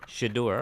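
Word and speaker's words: Shedeur: Is that how we're pronouncing his name? Shador.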